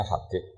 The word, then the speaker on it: Habib: Oh enggak, yang benar itu bacanya Habib.